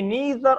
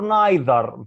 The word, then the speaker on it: neither: have nor or neither the pronunciation can be neither or neither both correct neither or